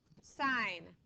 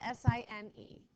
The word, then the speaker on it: sine: It looks, sine is spelled S-I-N-E. Okay, so what we're saying is sine, not sin. Okay, we're not sinning in math. We're doing the sine in math.